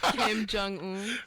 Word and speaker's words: Kim Jong Un: You spoke about Kim Un. Kim Jong Un. Kim Jong Un. I'm pretty sure that's how you pronounce Yeah.